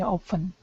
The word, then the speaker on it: often: Most native speakers pronounce this word often and often different based on the sentence that they're actually using.